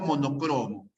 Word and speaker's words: monocromo: bicromo o bicromo ya salvo monocromo es una palabra grave la terminación osfera